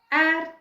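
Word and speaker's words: heir: he doesn't have a ad to rule his kingdom h-e-i-r it should be pronounced as ad means vari usually if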